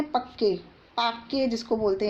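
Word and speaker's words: Pakke: Pakhui wild life sanctuary का एक दूसरा नाम है पक्के, पाक्के जिसको बोलते हैं, प्रोनाउंसिएशन देख लीजिए आप, ठीक है।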